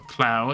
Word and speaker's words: Klauth: cloth I'll pronounce it I think it's cl but I'm cuz I think that's how au is pronounced cuz it's pronounced as clow right so clow and then th clout so eh so so